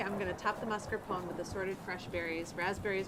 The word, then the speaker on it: mascarpone: This is mascarpone, pronounced mascarpone in Italian.